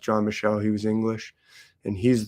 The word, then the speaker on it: John Michel: It's spelled like Mitchell, but without a T, and I believe it's pronounced John Michel.